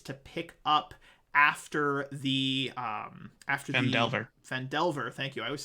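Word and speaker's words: Phandelver: Fendelver, thank you.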